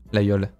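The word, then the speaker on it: Laguiole: partout excuse-nous la Yol ça se prononce la yo alors ceux qui prononcent la gueule c'est que vous n'êtes pas avonis malheureusement et en grandi 20 3 ans en avéron je sais prononcer les villes de mon département je sais on va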